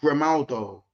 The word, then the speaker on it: Grimaldo: Man have been talking about Grimaldo, yeah, because his name rhymes with Ronaldo.